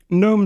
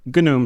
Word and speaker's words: GNOME: taking a look at gnome shell or gnome shell apparently both are acceptable pronunciations I'm going to keep